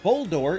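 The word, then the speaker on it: Boldore: Because just starting on the name, Bouldor is so multi-layered. Obviously, it sounds like boulder because it's a rock type, but it's also spelled like bold ore, which is another geological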